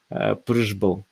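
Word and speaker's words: Přibyl: Kasparov played against Joseph Prishbul. So it's difficult to pronounce this um, uh, Czech last name. So here it's written Pribel, but actually we should pronounce it as Prishbul without E sound.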